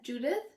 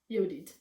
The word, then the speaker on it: Yodit: Judith? Yeah, Judith. That's Yodit.